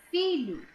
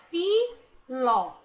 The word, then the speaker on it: filho: Sim, a letra H é pronunciada, porque se ela não fosse pronunciada, ficaria filo. Filo. Não é filo, é filho. Lho. A letra H está sendo pronunciada junto com a letra L.